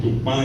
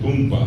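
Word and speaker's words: Tupã: acento en el medio, en vez de decir tupá, dicen tumpa, en vez de decir burubizá, dicen burubisa.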